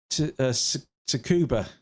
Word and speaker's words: Tsukuba: So we've got Tsukuba. I can't quite pronounce it, but I think the T is silent.